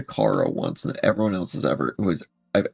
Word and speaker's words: Chara: say that name is Chara. It's Chara, right? Not Kara. Okay, if you want to tell me what the pronunciation, CH Chara or K Kara, and I'll just go off that.